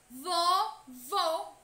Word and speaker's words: vovô: palavras vovô e vovó observem a palavra vovô e o acento circunflexo presente nesta palavra faz com que o som da vogal seja emitido de forma fechado vovô com sou fechado soprar dentro vovô já na palavra vovó